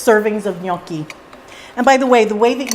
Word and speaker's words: gnocchi: The way that you say it is the way that you would say onion. That nya sound from onion is the same as gnocchi. So it's not gnocchis, it's gnocchi. You can do it.